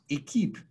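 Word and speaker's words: Équipe: us to the name equip equip which is pronounced a keep in french means team so a group of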